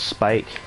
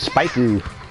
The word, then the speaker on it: spike: I am so happy that they learned how to pronounce spike. They used to say nice spike-oo. Damn it, hit the net. Thanks, Marie. You know how to say spike, not spike-oo.